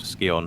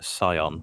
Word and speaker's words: Scion: Just in case there are any people that seem to be a bit irked by the pronunciation of Skion. Oh, Skion. We do know that the proper pronunciation is Scion.